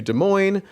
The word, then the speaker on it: Des Moines: much, I was supposed to fly out to Des Moines Tuesday morning, early 11 early flight, get out of it, do all that stuff.